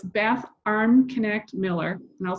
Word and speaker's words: Armknecht: profile so it's bath arm connect Miller and I'll spell that it's a-r-m-k-n-e-c-h-t so you're you're chuckling there I see um it's arm connect like arm connected to your shoulder and I was wondering